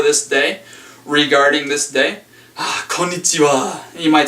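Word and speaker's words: こんにちは: Alright, and we pronounce this konnichiwa. Konnichiwa. Hai, konnichiwa. Konnichiwa. This is the hawa.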